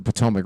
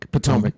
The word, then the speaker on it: Potomac: Potomac? Potomac, yeah.